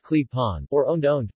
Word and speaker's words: klepon: clapping pronounced clip-on or owned owned pronounced